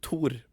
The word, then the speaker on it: Tor: now we know yeah and also my name like tour it's also a bit it's like in the region it's toward toward yeah yeah okay you're